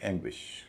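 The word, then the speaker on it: anguish: इसका उच्चारण होगा एंग्विश।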